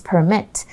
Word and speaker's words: permit: it as a verb pay attention to the pronunciation it's permit imagine you have to